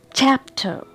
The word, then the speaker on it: chapter: Chapter, here I am giving a stress on the first syllable.